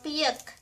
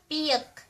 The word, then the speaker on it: piek: And a chick is piek. Piek. pi ek (pronounced as yek) Ok, let's say that again.